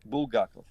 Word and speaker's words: Bulgakov: Bulgakov.